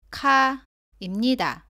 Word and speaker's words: 카: 처음 비교할 자음은 가, 까, 카입니다. 모두 가와 발음이 비슷한데 까는 가보다는 세게 발음하고 공기가 나오지 않습니다. 카는 가보다 공기가 많이 나옵니다.